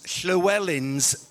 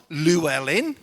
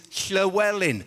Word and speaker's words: Llywelyn: I'm sorry to interrupt again, but this is possibly my last opportunity to get you to pronounce Llywelyn's name properly. It is not Llewellyn.